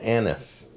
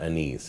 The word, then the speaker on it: anise: here okay so I found out the correct pronunciation for this called Anis seed not anise it's an Anis so that's the proper pronunciation